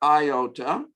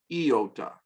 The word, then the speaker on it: iota: They will often say iota, but the proper pronunciation for this letter is iota, as in two E's and an O-T-A, iota.